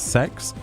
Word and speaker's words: CeX: you're still in shock that CeX is sex yeah me too when